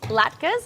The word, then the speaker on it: latke: So we're making latkes.